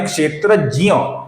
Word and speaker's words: क्षेत्रज्ञ: हम इसका उच्चारण हमने अभी अभी देखा, इसका सही उच्चारण है जियो, तो इसका सही उच्चारण है क्षेत्रज्ञ।